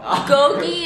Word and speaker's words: 고기: One time I met someone who really wanted to like tell me about their Korean experience, and instead of saying 고기, they called it goji, like goji berries.